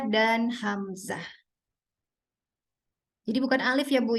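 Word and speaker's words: همزة: Jadi seringkali Hamzah itu dibaca tebal. Apalagi kalau setelahnya itu huruf tebal. Tapi dibacanya harus tipis karena memang Hamzah itu A itu adalah huruf tipis.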